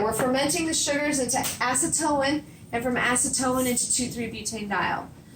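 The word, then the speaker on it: acetoin: But yes, acetone is how you pronounce that. That is different than acetone. Acetone is what removes fingernail polish. They're not the same chemical.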